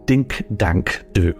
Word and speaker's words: Dink Dank Do: Paddy's catchphrase is Dink Dank Do, but spelled with one O. I can't believe I've been Mandela affected for Paddy law. How do you know this? Well, it always sounds like he's saying ding dang do, but if you